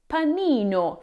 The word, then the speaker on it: panino: Pini when referred to one sandwich when the correct pronunciation is panino for one sandwich.